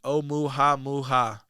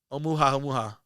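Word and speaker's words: ʻOumuamua: Anyway, it's pronounced Oumuamua. Oumuamua. Omu, Amu, Oumuamua, which is Hawaiian for roughly scout.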